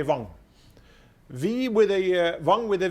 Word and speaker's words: Wang: So in Norway, then pronunciation V or W, same. Then the Germans also would say Wang.